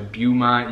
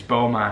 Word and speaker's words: Beaumont: my pronunciation of beaumont i was pronouncing the beaumont you guys were like oh god that's cringy it's beaumont so what we're gonna